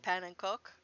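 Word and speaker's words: pannenkoek: we can serve up the panikaku or panankok which is as close as i can get to the dutch pronunciation of p-a-n-n-e-n-k-o-e which is how that is actually spelled so we will have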